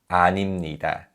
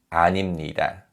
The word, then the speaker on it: 아닙니다: And just like 입니다, because of nasalization, this is pronounced 아닙니다. 아닙니다.